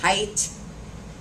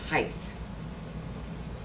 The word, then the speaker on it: height: do not apply but the word is height not height anybody heard anybody use